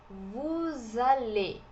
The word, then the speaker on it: vous allez: Vous allez, vous allez. O EZ aqui, o Z não é pronunciado e o E é fechadinho.